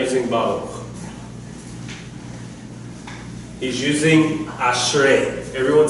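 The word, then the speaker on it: ברוך: So, it is spelled with, as though it has the dagesh with the, what's it called again? The Shiva. Thank you. I'm sorry, my mind goes blank sometimes. With the Shiva, okay, making it a K sound, but usually we pronounce it like that. Baruch.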